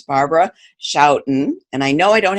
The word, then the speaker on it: Schouten: You know, the Dutch pronounce it as Schouten, but I know the SCH sound is hard, so you came near perfect.